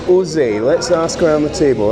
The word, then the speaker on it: Zé: How is it pronounced, first of all? O Zé. O Zé.